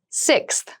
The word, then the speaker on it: sixth: Sixth. Sixth. Sixth. So sixth refers to the number 6 of something. This is a really good word to practice some pronunciation. Slow down that sixth, that middle part there.